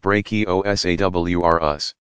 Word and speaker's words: Brachiosaurus: R Us used to be called brontosaurus and Brachiosaurus pronounced brachio s.a.w are us which weighed around 80 tons that's 160 thousand